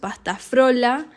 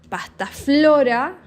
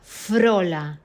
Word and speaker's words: pasta frola: say pasta flora and there are people who say pasta frola it is very difficult to pronounce because there is between the F and the or an r so frola pasta frola That is the real name but sometimes one he says